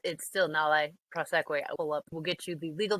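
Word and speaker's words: nolle prosequi: Correct spelling is Nolle. So it's Nale Proseque, and it will no longer prosecute.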